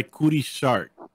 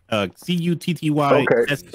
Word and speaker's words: Cutty Sark: C-U-T-T-Y S-A-R-K. So it's actually pronounced Cutty, but you keep saying Cutty.